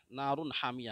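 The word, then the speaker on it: نار حامية: بھی پڑھ سکتے ہیں، لیکن اگر اس کے بعد گول نشان ہو، آیت ہو، تو اس گول والی تا کو ہم ہا بنا دیتے ہیں، نار حامیہ ہو جائے گا۔ نار حامیۃ، ہجے کیسے کریں گے؟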